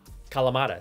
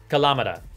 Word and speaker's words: Kalamata: it is codenamed internally Kalamata, after the olive, Kalamata. See, I've learned a lot after I completely butchered how to say it the first time around. Kalamata.